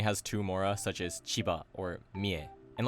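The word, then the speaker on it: 千葉: I should also note that basically all prefectures with two or three mora use the atamadaka pattern when pronounced in isolation. Aichi, Tochigi, Chiba, Kochi.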